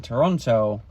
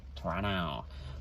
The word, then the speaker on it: Toronto: way that I talk, they don't even pronounce Toronto with the second T. Toronto.